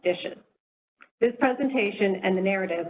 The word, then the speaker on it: DHSES: referred to as the acronym dhses pronounced dishes this presentation and the